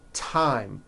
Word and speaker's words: thyme: spelled with a TH, they are pronounced as if they were spelled with a normal T, like that. And these words are Thomas, Thompson, Teresa, Thailand, Thames, like the river, Esther, and thyme, which is a spice.